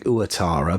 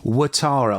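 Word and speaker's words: Ouattara: we're talking about Atara I keep on saying uatara but when you think about it we is spelled oui in French and that's we so watara or would Tara Chris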